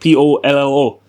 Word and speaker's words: pollo: Or chicken is it's spelled polo, like POLLO, but you'd say pollo. Yeah, okay. You'd say pollo, right?